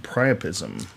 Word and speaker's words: priapism: Spinal cord injuries known to be associated with priapism. Injuries It's to the actually pronounced cerebellum.